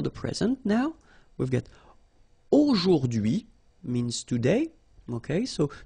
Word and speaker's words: aujourd'hui: Okay, so don't be afraid by this word because it looks a bit scary if you look at it like that, but take the time to, well, divide it. So the first one, A-U-O, jour, and then DUI, okay? H is not pronounced, so you only get this DUI thing. O, jour, DUI, aujourd'hui, and it means today, okay?